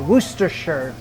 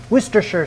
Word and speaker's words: Worcestershire: to you guys i know now how to pronounce this it's called worcestershire worcestershire sauce couple splashes i'm going to use a